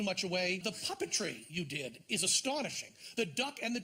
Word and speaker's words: Dedi: It's Dedi or Didi? D-E-D-I? Didi, yeah. Didi, is that the way it's pronounced? Yeah.